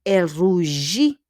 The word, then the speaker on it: rougit: Donc, elle rougit. Again, there's a T, but we don't pronounce the T.